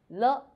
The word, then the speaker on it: 了: 我们一起读 le, e, le, le, light and short.